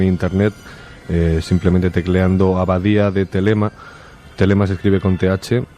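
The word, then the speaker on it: Thelema: Bueno, es una serie de dibujos que todo el mundo puede encontrar en internet, simplemente tecleando Abadía de Telema. Telema se escribe con TH, o en inglés Abbey, B-B-E-Y, y luego de Telema, ¿vale?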